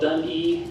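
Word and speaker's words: Duni: It's called Dun-E, but it's spelled D-U-N-I, Dun-E.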